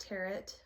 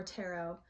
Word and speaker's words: tarot: So firstly, tarot can be pronounced two different ways. It can be pronounced terret or tarot. I choose to say tarot.